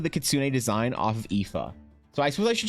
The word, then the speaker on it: Aife: So her name is Aife, A-I-F-E, but she insists that it's pronounced Ifa.